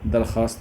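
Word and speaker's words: درخواست: तो अगर वाव खा के बाद आए और वाव के बाद अलिफ आता है तो उसे हम लोग वाओ मादुला कहते हैं। जैसे दरखास्त में आता है।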